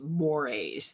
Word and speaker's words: mores: And so I know this looks just like moors, but it's pronounced mores like the eel in a way to remember that.